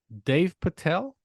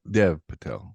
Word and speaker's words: Dev Patel: story of Henry Sugar by Wes Anderson starring Dave Patel is that his name right yep Dev Dev Patel Dev Patel it also Stars Benjamin damn it